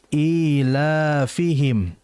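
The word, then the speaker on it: إيلافهم: Perhatikan di ilafihim itu panjang ya. Ee la juga panjang. Ilafihim di situ berarti dihukumi mad ee th'i ya. Yang harus diperhatikan oleh kita semuanya. Dibaca dua harakat. Jangan sampai dibaca ilfihim rih.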